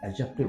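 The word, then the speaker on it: adjective: एडजेक्टिव में जो ये डी है ये साइलेंट रहता है, अर्थात इसे एडजेक्टिव बोलते हैं, जो कि नाउन और प्रोनाउन को क्वालिफाई करता है।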